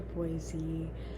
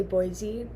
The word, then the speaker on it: Boise: the Midwest and uh when you say Boise which just feels like the correct way to say it while looking at the word you know b o i s e that's Boise um and then people